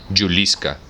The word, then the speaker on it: Juliska: una yugoslava cuarentona llamada juliska se pronuncia yuliska que se encargaba con